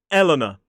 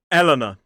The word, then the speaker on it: Eleanor: So this is Eleanor. E-L-A-N-A. Eleanor. 3 syllables, stress on the first.